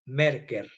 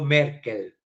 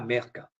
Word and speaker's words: Merker: filosofía hegeliana y nicolao merker no Merkel merker terminado en r que en alemán se pronuncia merca puesto que los aspectos